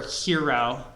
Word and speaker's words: gyro: So a gyro, or or hero, if you pronounce it in like the Greek way.